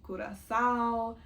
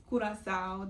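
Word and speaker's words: Curaçao: for my student visa to live in Kurasowl, what instead Kurasau, that's how you pronounce it.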